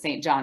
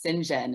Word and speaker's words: St. John: John, which is spelled, everyone pronounces it St. John because that's how it's spelled.